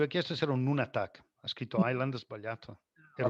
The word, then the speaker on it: nunatak: João, diz-se Nunatak, no island.